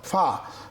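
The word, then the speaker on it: ف: বেশ মাশাল্লাহ গইন খ ফা ফা দর্শক একটু বলে রাখতে চাই অনেকে ফা উচ্চারণ করেন দুই ঠোট মিলিয়ে ফা না এভাবে করা যাবে না উপরের দাঁতের আগা নিচের ঠোটের পেটে লাগিয়ে ফাতা দিতে হবে এফি কেমন এর পরে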